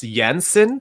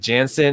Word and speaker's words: Jensen: then uh you know it's it's jensen but then like i had so many problems with it because some people pronounce it jansen and then yansen so i was fixing